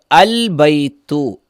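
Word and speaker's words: الْبَيْتُ: ബൈത്തുൻ എന്നാൽ ബൈത്തുൻ എന്നതിലേക്ക് അൽ എന്നതിനെ ചേർത്തപ്പോഴോ ഇവിടെ അൽബൈത്തു എന്ന് കൊടുത്തപ്പോൾ അവസാനം വന്ന രണ്ട് ളമ്മിൽ നിന്ന് ഒന്നിനെ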